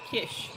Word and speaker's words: Kiss: Ah, so just in the chat, kiss with the double S is pronounced as the first letter in the word sugar. Ah, so kush. Hopefully I'm saying that right. Thank you for your tip or kish should be kish.